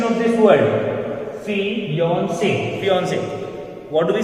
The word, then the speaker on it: fiancé: Correct pronunciation of this word, fiancé, fiancé.